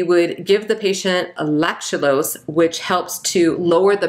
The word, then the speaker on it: lactulose: osmotic laxative which is lactulose which i've always pronounced as lactolose but apparently apparently it's lactulose lactulose is used for the treatment of hepatic